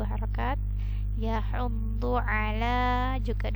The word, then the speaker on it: يحض: Ini huruf dhu ya, bukan dal, bukan d biasa, tapi dhu. Dia agak tebal bunyinya daripada huruf da. Hati-hati terbacanya menjadi huruf da.